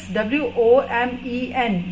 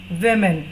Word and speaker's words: women: के लिए woman, and if it is WOMEN then it is women. How do we pronounce it? Women.